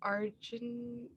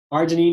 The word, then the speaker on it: arginine: how to pronounce this argentine arginine is correct yep arginine and when